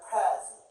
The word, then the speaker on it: present: For example, this word present. Present. Present. Prayer. First syllable stress. But this as verb present. Look here. Present. Gen. Second syllable stress.